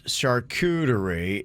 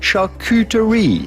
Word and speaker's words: charcuterie: okay here it is so in english or american you'd say charcuterie charcuterie now in france you'd say charcuterie charcuterie got to do